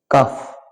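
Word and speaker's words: calf: হাফ, এখানেও এল will be silent মানে অর্ধেক। কাফ মানে বাসুর, এখানে ওয়াক এখানে এল সাইলেন্ট থাকবে।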